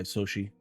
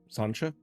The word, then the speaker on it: Soshi: Quickly, Morrigan is joined by Soshi. Sancha? What is it? Sanshi. You said it right the first time. Think sushi. Yes. Just say So so instead of an su.